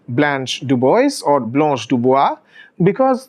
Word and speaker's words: Blanche: Now, Blanche, of course, is the American pronunciation, but if you look at the French pronunciation, it is actually Blanche.